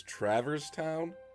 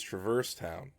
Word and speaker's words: Traverse Town: I always pronounced it as Traverse Town. But, I think I heard Goofy once call it Travers Town. I called it Traverse, he called it Travers. I'm like, oh, it's Travers Town.